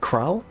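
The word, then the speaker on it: Krile: pronounce that one again crowl oh please think nothing of it a trip to aorzia was long overdue i was gonna say krill or krilly you must be the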